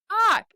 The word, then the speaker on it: Bach: How else are you supposed to fucking say his name? Everybody's like, Bach. It's like, his Like name? Johann Sebastian Bach. Bach. It's Bach.